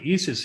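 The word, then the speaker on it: IS☉IS: alchemical symbol and um if you look at the nasa webpage they say it's pronounced like e-sis but if you listen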